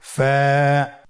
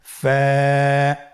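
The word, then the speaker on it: ف: ফা কফ কাফ লাম মিম নুন ওয়াও হা হামজা ইয়া। ফা হরফটি আপনারা স্ক্রিনে দেখতে পাচ্ছেন। ফা হরফটি উচ্চারণের ক্ষেত্রে বারিক হবে এবং এক আলিফ টেনে পড়তে হবে।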